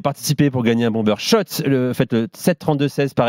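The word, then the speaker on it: Schott: gagne sur RMC avec shot la marque iconique new yorkaise depuis 1913 oui shot et pas Scott ça fait des années qu'on prononce mal la marque toute la collection sur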